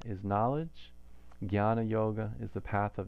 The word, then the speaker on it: jñāna: And so how we pronounce it instead is gya, like a G and a Y sound. Gya, gya. So gyan is knowledge, Jnana Yoga is the path of knowledge, and it